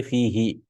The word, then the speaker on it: فيه: There are some recitations of the Quran where they recite fihu or bihu like that. But for us, it sounds weird. Bihu, fihu. No, we say fihi, just for pronunciation purpose, because it's, appropriate, munasib, because this is a ya, no?